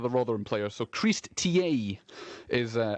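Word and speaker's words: Tiéhi: first tasks is to inform you of the pronunciation of one of the Rotherham players so Christ ta is uh how we are going to insist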